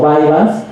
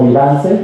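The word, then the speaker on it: Vyvanse: 2016 en Estados Unidos se le conoce como vians aquí en México lo hemos empezado a pronunciar como vivance y ya quedó como vivance eh Y es lisdexanfetamina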